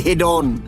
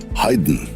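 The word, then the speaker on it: Haydn: রচনা শুনিনি বটে কিন্তু এদের নামের উচ্চারণগুলো অন্তত আমার জানা আছে কিন্তু আপনার নেই কিরকম হাইডন মোসাদ বেটফেন এই হল আসল উচ্চারণ হাইডেন মোসাদ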